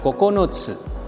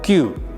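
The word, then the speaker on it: 九: Cara bacanya secara kungyomi itu dibaca kokonotsu, sedangkan secara ongyomi ini dibaca dengan ku atau kyu.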